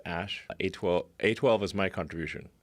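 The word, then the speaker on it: Æ: The AE is like pronounced Ash.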